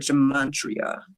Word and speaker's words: gematria: Okay, so when we look up the word gematria, let me just make sure I'm saying it right. Yes, Gematria.